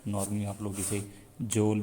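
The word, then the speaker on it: joule: Of kinetic energy is जूल। तो kinetic energy की unit क्या होती है? जूल होती है। तो बेसिक प्रोनाउंसिएशन जो इसकी जूल है, नॉर्मली आप लोग इसे जोल भी रीड करते रहते हैं, लेकिन असल प्रोनाउंसिएशन इसकी जूल है।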